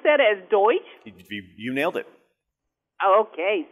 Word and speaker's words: Deutsch: Do we pronounce that as Deutsch?